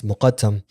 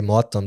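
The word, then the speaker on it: Mokattam: the city known as mokatam um they say motham they don't pronounce the cough in the Arabic or the Egyptian dialect and it's like the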